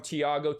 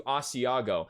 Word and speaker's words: Thiago: really awesome guy and he used to mistaken my name from thiago to asiago honest mistake he corrected himself